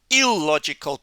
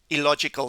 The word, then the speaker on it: illogical: So many students see that double L and they say ill, illegal, illiterate, illogical. But it's illegal, illiterate, illogical.